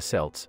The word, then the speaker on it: Celts: the romans belief the celts pronounced with a hard c or k sound were anything but barbarians